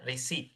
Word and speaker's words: receipt: Nah p-nya teh dihilangkan aja ya. Receip.